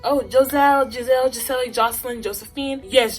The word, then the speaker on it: Joselle: my senior quote was it's pronounced jose because everybody and a